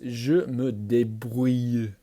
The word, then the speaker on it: je me débrouille: In French, it's je me débrouille. It's that famous O-U-I-L-L-E that's impossible to pronounce.